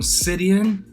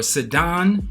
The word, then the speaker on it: Sidon: All right, so in the border of the Canaanites was from Sidon, or Sidon, whoever you want to pronounce it, Sidon, okay, Sidon, as you go towards Gerar, as far as Gaza, okay?